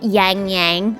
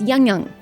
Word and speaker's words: Yangyang: I had been saying it's not yangyang it's yyang you don't emphasize the a so I'll go back